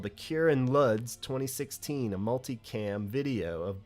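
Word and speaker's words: Łódź: But Lodz, I think is how you're supposed to pronounce it, but I'm just calling it Lodz, L-O-D-Z, and apologize for that too.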